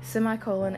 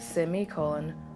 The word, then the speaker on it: semicolon: now before he continued a quick note about pronounciation semicolon and semicolon are both considered acceptable and I tend to bounce back and forth between the two now a semicolon